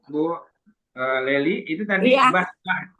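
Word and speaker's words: بصطة: Bu ee Leli itu tadi bastah. Basah tadi dibacanya baca sin apa shad ya? Shad apa shak tahu sin ya bacanya sin ya. Iya bacanyaq kibas sin bukan sh ya Bu.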